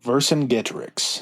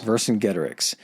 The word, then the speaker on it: Vercingetorix: How do you pronounce his name again? Vercingetorix. Vercingetorix.